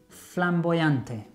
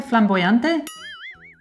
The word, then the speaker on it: flamboyant: In español, flamboyante. Doesn't it exist? No. No? You don't say flamboyante? Flamboyant. Yes, spelt with an M.